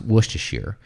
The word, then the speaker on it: Worcestershire: Yeah, so my understanding is that it's pronounced Worcestershire. But a lot of people say it like Worcester or Worcester.